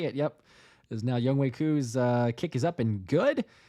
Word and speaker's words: Koo: And then last name, is it Koo or okay? Koo.